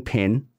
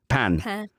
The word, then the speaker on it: Pin: So it was Dorian Pin. That's not how you pronounce her name. It's French, isn't it? Pan. But it's Pin, isn't it? Dorian Pin.